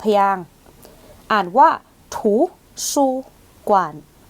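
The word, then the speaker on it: 图书馆: ค่ะ อ่ะ คำ นี้ 3 พยางค์ อ่าน ว่า ถู ซู กวาน ถู ซู กาน ถู ซู กวาน จะ แปล ว่า ห้อง สมุด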